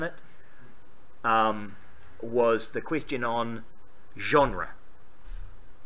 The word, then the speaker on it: genre: And I said, "It's genre." And he went, "Really?" I said, "Yes." I went, "Okay." Because it's spelled G-E-N-R-E, genre, because it's French and the English just steal words.